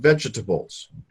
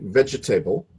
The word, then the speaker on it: vegetable: And we don't say vegetable. We say vegetable. So these syllables, the OR, or the O, and the E, and the A, they're cut right out.